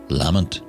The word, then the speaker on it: Lamont: on the island including the lamont's lament in the scottish pronunciation the spirit sellerman's family